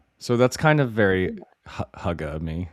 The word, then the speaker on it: hygge: So that's kind of very huga me. How are we pronouncing it again? Like the name Hugh and then I mean if